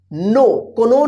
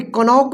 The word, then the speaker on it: knock: यहां पे कनॉक नहीं पढ़ा जाएगा। देखिए के बाद क्या है, एन है, तो देखिए तो इस के का उच्चारण नहीं होगा, यानी साइलेंट लेटर क्या है इसमें, के है, के।